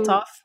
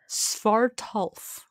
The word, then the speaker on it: Svartalf: Svaltoff? No. I have it written down so that I can make sure that I say it correctly. One second. It's in here somewhere. It is Svartalf.